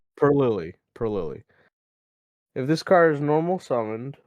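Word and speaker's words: Purrely: going to try to do my best okay pery pily is how it's pronounced perly Peril if this card is normal summoned normal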